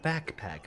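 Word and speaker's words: Baccpack: And I've been watching a YouTuber by the name of Backpack, but it's spelled B-A-C-C, Pack.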